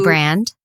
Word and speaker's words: Brand: Written by Katie Brand. Rhymes with Grand.